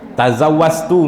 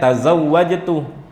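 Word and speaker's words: تزوجت: Misalkannya tazawastu misalkannya ya, Bun. Sebenarnya tazawajtu eh dia bacanya tazwastu. Ah ini tidak sah.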